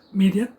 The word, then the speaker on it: Miriam: Aarón y de Moisés María que se pronuncia Miriam y la fiesta fíjese